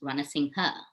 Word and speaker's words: Ranasinghe: absolutely first of all my name is pronounced runner sing her i not say that